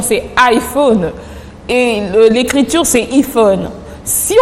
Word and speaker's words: iPhone: Le I en anglais se prononce I, c'est tout à fait normal.